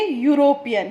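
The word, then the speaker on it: European: ई क्या है हमारा, कॉन्सोनेंट, लेकिन जब हम इसे प्रॉपर प्रोनाउंस करेंगे ना तो क्या पढ़ेंगे, यूरोपियन। क्या पढ़ेंगे, यूरोपियन। ठीक है, तो यूरोपियन की साउंड क्या है, या, जो यहाँ पर आ रही है, तो हम क्या लिखेंगे यहाँ पे, अ यूरोपियन।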